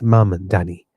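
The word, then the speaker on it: Mamdani: Yes, Mandani.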